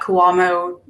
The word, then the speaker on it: Cuomo: the arrests, they can, instead of showing that Cuomo, is that how you say his name? I don't know. Failed. They can just say nobody abided the Andrew orders. Cuomo, right?